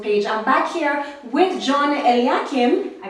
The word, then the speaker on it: John Eliakim: on our Facebook page I'm back here with john l yeah kim i pronounced it right yes it and we've been